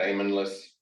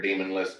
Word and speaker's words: daemonless: It's called daemonless or demonless, depending on how you want to pronounce that word.